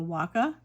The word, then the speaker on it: Waka: Um, this is from the I'm probably going to pronounce this incorrectly, but the Waka, w a k a, uh, a Waka poetry is what this line is.